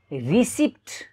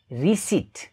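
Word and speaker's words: receipt: तर यसको correct प्रोनन्सिएसन रिसिट रिसिट रिसिट रिसिट mince रसिद. रिसिट भन्ने रिसिप्ट भन्ने होइन. यो पीलाई पनि उच्चारण गर्ने गरिएको छ तर त्यो गलत हो, त्यो साइलेन्ट हुन्छ.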